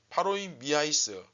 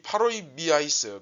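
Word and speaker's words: παροιμίαις: 파로이 미아이스. 이 미의 강세가 액센트가 들어가다 보니까 조금 발음이 웃기긴 한데, 뭐 여하튼 이 파로이 미아이스, 그러니까 공관복음에서 이제 비유라고 했을 때는 파라볼레라는 단어를 씁니다, 주로.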